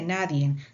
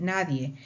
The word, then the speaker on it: nadie: el propio lenguaje ejemplo no se dice naden se dice nadie se encuentra diccionarios explicaciones